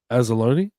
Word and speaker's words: Anzalone: It says among the less vague updates, Campbell said left tackle Taylor Decker, linebackers was it Alex Anzalone?